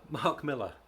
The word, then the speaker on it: Millar: Not Millar, but look, he's Scottish. I want to say this to people who live in America. When you say Miller, when it's spelled with an A, it's not Millar. Nobody's called Millar. Hello, I'm Mr. Millar. Oh, hello, my lover. Unless you're from Devon. But yeah, it's Miller.